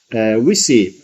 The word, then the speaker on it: WESII: WESII, you see, we pronounce both Italian and English.